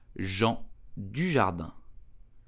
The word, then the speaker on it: Jean Dujardin: So, how do you pronounce his name correctly in French? You will say Jean Dujardin.